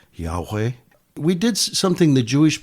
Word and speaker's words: Yahweh: y a H wh some Scholars say it could be pronounced Yahweh we did something the